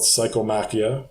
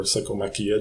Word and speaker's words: Psychomachia: Well, the game in Peru is called Psychomachia, or Psychomachia, depending on how you pronounce it.